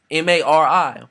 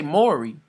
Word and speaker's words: Mari: M-A-R-I. Mori. You say Mori. That's probably how you say it. Mori. Not Mari.